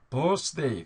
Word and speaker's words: birthday: 난리 났어요 자 근데 birthday 그러는데 서가 아니죠 이거 스 그러면 안 돼요 자이 뒤에 있는 거